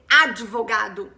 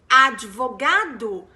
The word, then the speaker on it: advocate: d and you say advocate and that v sound needs to be pronounced as a v because spanish speakers pronounce the v as b and to the brazilian